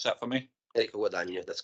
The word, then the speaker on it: Guadagno: For the premises, Mr Enrico Gadagno. Can you pronounce that for me? Enrico Guadagno, that's correct. Say again. Gadano. Sorry, once more, please. Sorry. Guadagno, please.